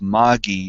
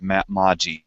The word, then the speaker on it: Magi: debate about it anymore we now know to pronounce it P Magi because Mommy says out loud P Magi holy quintet so it's Magi not M Mai I knew it was